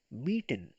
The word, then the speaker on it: mieten: Gemietet kommt aus mieten. Pronounce it me.